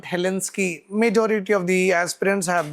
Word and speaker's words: Helsinki: It is Helsinki, not Helsinki. Majority of the aspirants have this like mispronunciation with regard to that.